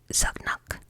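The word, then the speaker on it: Zanuck: Come to find out, the reason was Daryl, I think his last name is pronounced Zugnuck.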